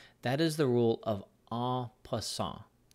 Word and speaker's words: en passant: is the rule of aw + aw it is spelled en space for a new word pas si in T it is a French word or a French phrase and it means in